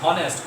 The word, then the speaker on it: honest: O, not honest, honest.